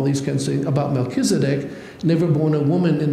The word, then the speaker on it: Melchizedek: In Hebrew, it's Melchizedek. Now, that's a mouthful.